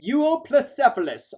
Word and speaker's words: Euoplocephalus: And in case you're wondering, I did learn to pronounce this name. Euoplocephalus, otherwise known as well-armored head.